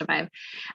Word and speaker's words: Aviv: We're working right now with an organization called Aviv. That was one of the resources you would have seen on there, or Aviv, they call it, sorry, it's pronounced Aviv.